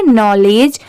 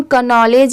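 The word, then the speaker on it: knowledge: इसे हम पढ़ेंगे नॉलेज। अब यहां पर देखिए स्टार्टिंग में के दिया हुआ है तो इसे हम कनॉलेज या केनॉलेज भी पढ़ सकते हैं। बट नहीं यहां पर के लेटर साइलेंट है।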